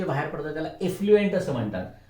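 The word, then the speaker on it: effluent: जे बाहेर पडतं त्याला एफ्लुएंट असं म्हणतात. आणि त्याचं स्पेलिंग आहे ना ते EFF आहे, एफ्लुएंट.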